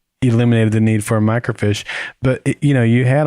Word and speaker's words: microfiche: is it the mic micro fish eh you're eating my net it's a microfiche you're over pronouncing it what are you